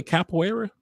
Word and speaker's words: capoeira: How do you say capoeira?